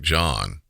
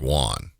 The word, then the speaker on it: Juan: this incident I say police called The Suspect John but that's not how his name is spelled it's spelled juu an it's spelled like Juan and his last name